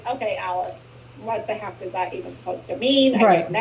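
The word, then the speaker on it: Alyss: and you can't feel her name is alice it's a but it's not spelled like alice like we spell it's a-l-y-s-s and she's a very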